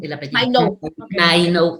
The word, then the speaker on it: Mainou: Mainou, tal como se escribe, así se pronuncia, Mainou Voices.